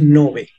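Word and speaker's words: Ngäbe: Se escribe N-G-O-B, Ngobé, pero su nombre correcto es Nove, Ngobé. Lleva dos puntitos arriba de la O y pueden observar un poquito de la cultura de ellos aquí en Panamá.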